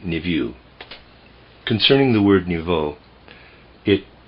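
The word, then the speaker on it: niveau: most perfect most beautiful the word i'm pronouncing or trying to pronounce there is n-i-v-e-a-u i'm pronouncing it niview concerning the word nouveau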